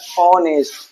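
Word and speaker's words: honest: जैसे आप देख सकते हो हॉनेस्ट। अभी देखिए फर्स्ट लेटर यहाँ पर एच है, ठीक, जो कि एक हमारा कॉन्सोनेंट है। लेकिन इसका हिंदी मीनिंग निकालेंगे तो इसका हिंदी मीनिंग होता है ऑनेस्ट।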